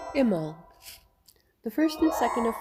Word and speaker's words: Imbolc: Imbolcg is pronounced without the B, Imbolcg, represents the time of